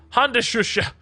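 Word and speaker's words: Handschuhe: You just pronounced it wrong. Hand shusha. Honda shusha.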